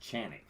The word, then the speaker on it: Canik: too is you pronounce in Turkey you know Canik is really pronounced chanic so what I always